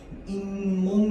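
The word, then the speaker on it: 잇몸: 자, 그런데 얘를 발음할 때는 어떻게 발음해요? 인몸 이렇게 발음합니다.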